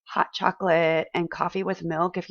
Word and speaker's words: chocolat: pronounce this ah chocolate so we don't pronounce the t we don't pronounce the